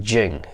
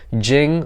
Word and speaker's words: jing: have in you now essence in the Taoists world it's pronounced Jing ji ng I hope I'm pronouncing